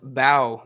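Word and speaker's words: Mbow: And according to Peter Parker, Spider-Man himself, it's pronounced Bow. The M is silent. So Marcus Bow.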